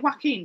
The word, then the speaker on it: Joaquin: How do you get Joaquin from that? It's Joaquin.